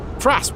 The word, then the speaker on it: Fras: Fras rhymes with bass.